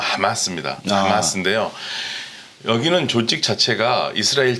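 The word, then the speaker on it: حماس: 아랍어의 앞자만 따서 그냥 정확하게 발음을 멋있게 하면 하마스입니다.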